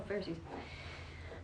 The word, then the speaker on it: Pharisees: dirt ferrous for us how do you say that pharisees oh pharisees a mortal life is